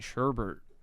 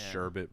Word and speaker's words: sherbet: it i've been saying sherbert i always say sherbert yeah i still do this day i know it's sherbet but sherbert's just the funner one like yeah you wanna